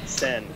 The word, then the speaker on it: Senn: Well, and the last name is Sen. Is that how you pronounce it? Sen.